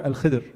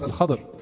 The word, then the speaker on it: Al-Khidr: Al-Khadr or Al-Khidr, more commonly actually pronounced Al-Khadr in the Ahadith.